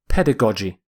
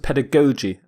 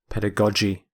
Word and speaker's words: pedagogy: some people pronounce it pedagogy both are correct according to my dictionary pedagogy pedagogy but the g's are pronounced differently the first g is hard the second g is soft pedagogy the prefix pad means